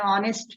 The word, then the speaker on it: honest: it's very common for example i say an honest man now what is the spelling of honest